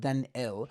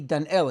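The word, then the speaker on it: Dan'el: mikhail brings this opinion so it might actually be dan el and if you'll notice how it's spelled it's spelled dalai nun al-flamed without a yud so he was a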